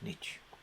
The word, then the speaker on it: niche: The Americans say it's niche, but we say it's niche.